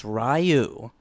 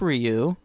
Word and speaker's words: Ryu: older boy and I referred to him as rayu and this got all up in my face and like gave me me and said it's pronounced Ryu and I that I